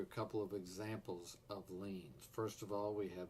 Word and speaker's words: lien: The first video is going to be starting with the concept of liens. That's L-I-E-N, pronounced like you're leaning against a building.